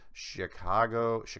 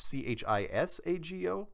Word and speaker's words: Chisago: Thanks, Steve Harris, Chicago City, Minnesota. Hopefully I spelled that right, or pronounced it. It's C-H-I-S-A-G-O, Chisago City, Minnesota.